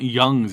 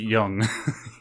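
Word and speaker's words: Jung: Union y uh Carl Carl Young it's not Young's it's it's yeah I know but pronounce it Yung Yeah Carl Yung psychology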